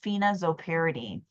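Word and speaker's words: phenazopyridine: y r i d i n e it's pronounced phenoperidine and it's specifically given for patients who are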